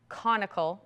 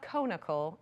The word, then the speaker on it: conical: It's like the adjective like related to the word cone. So it's not conical, it's Okay. conical. So if you picture Okay. a cone.